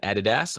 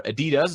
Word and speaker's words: Adidas: director of analytics at Adidas or Adidas depending on whether you're in Europe or in North America there are different pronunciations